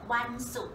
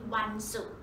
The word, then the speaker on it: วันศุกร์: So this is the trick for you to remember วันศุกร์ the word สุข and มีความสุข They are the same pronounced สุข So the Friday วันศุกร์ is your happy day